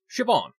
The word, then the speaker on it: Siobhan: And, yeah, I found out that it's actually pronounced Siobhan.